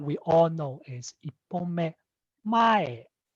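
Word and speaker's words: 前: So an example that we all know is ippome mae. Mae starts from high and then it drops.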